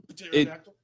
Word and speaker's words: pterodactyl: Pterodactyl is not started with a T. Pterodactyl.